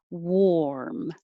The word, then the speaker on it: warm: Warm.